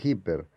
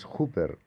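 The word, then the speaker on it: ὑπέρ: preposición genitivo de cooper algunos dicen hiper pero es súper porque no hay consonante antes nosotros decimos hipermercado super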